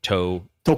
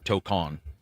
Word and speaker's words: Tokon: How did they pronounce it? Tokon. Yeah, Tokon.